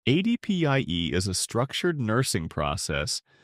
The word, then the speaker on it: ADPIE: ADPIE is often pronounced "ad pie".